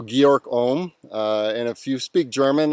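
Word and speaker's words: Georg Ohm: it and i think the correct german pronunciation of that is georg so georg om and if you speak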